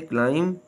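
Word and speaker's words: climb: आए तो बी अक्षर आवाज नहीं देता जैसे क्लाइम क्रम डम com silent C सी इज not pronounce the ending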